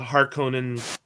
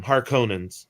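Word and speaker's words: Harkonnen: minor factions like the har Conan I I can't do it the new pronunciation for 80 for forever I've been calling them har conin but not Harkins but uh but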